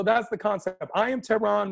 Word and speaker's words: Tehran: the concept i am tehran my name is tehran like the capital of iran i am t-e-h-r-a-n if